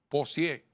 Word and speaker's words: Posier: Esa persona fue sometida a la acción de la justicia, está detenida, se le está pidiendo medida de coerción de nombre Posier, así se pronuncia, y se le impuso también una multa conforme a lo que establece la ley en ese orden.